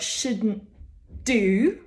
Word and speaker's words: shouldn't: shouldn't do and there we're actually stopping the tongue on the bump behind the teeth on the alveolar Ridge getting ready for the D which is pronounced in the same place but we don't really